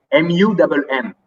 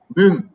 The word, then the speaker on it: Mumm: That is written M-U-M-M. We don't pronounce it Mumm or Mam.